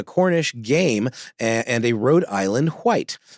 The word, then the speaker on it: Rhode Island White: game and and a Road Island white um Accent on the white uh if you look